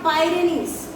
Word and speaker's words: Pyrenees: Pyrenees, not Pyrenees. Not Pyrenees, children. Remember that. See, most probably people are pronouncing wrongly.